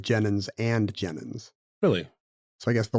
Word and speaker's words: Jennens v. Jennens: Jennens, but when it was actually said out loud, they would have said Jennens and Jennens.